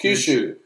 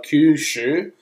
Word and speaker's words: Kyushu: Kyushu. Oh, why do I say Kyushu? Because you're trying to pronounce it like an Aussie.